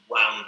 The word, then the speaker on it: wound: on the pronunciation uh we don't say wind because some people might look at it and say oh that's wind it's not wind wind okay so you